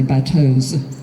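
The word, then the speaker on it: bateaux: my French friends this I'm going to pronounce the X as an S so you can tell that I mean more than one so I'll say by toes for plural even though I'm not supposed to but my job is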